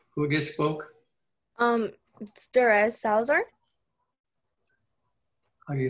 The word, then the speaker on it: Salazar: here uh who who just spoke um duress salazar oh you spell your last name s-a-l-a-z-a-r yes there is salazar am i pronouncing that right salazar yes okay i've got